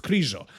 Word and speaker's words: Krizo: I think I'm gonna have to switch to Krizo because that's how you guys call him, even though his name is pronounced Krizo.